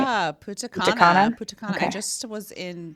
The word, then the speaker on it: Punta Cana: Yeah, Punta Cana.